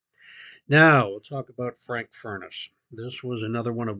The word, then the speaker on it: Furness: pronounce this family name Furness, but the way to remember it is Furness is that Frank Furness was a redhead with a fiery temper, and he considered himself the fiery furnace.